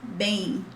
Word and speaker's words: bem: But this bang is not exactly bang that we use. That's why I added the in, because we have the sound of E in the middle of bem, tudo bem. So this is like bem in, but faster, bem, okay, tudo bem.